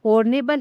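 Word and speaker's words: honorable: जाएगा option B एन यह जो हॉर्नेबल है इसमें जो एच है यह क्या है साइलेंट है साइलेंट है तो इसका उच्चारण है यह किससे शुरू होता है तो इसका उच्चारण होता है आ से इसका उच्चारण शुरू होता है जो कि एक स्वर यानी कि वोवेल साउंड है।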